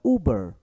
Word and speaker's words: Uber: Esse som de Uber tem som de U, aquele U longo. Então, Uber, Uber, não é Uber, é Uber e não é Uber, Uber.